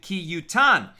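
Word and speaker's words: כי יתן: And yet we read it based on the tradition as to its correct pronunciation, ki yutan, which indicates any situation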